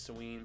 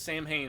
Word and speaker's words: Samhain: to the misfits or sam hayne as he mispronounces it i know it's selene but he pronounced it as samhain for whatever reason those